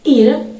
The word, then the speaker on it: Ira: E aí temos Ira veja como eu pronuncio Ira e em seguida temos irá veja que há uma intensidade noá Ira se formos analisar